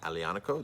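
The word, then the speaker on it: Aglianico: is made from the alianical grape a-g-l-i-a-n-c-o alianaco the g is silent so that is uh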